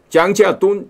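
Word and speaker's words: 章家敦: 고든 창. 짱지아돈 중국 발음 이렇게 돼요.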